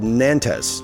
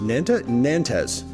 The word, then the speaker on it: Nantes: Next was a song by Beirut, and it was called Nantes. Nantes. Yes. I guess I feel like when I'm saying it, I'm accenting in the wrong place, but it's spelled Nantes.